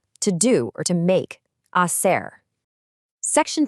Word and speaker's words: hacer: Before we say it, the letter H in Spanish is always completely silent. Just pretend it isn't even there. To do or to make, hacer.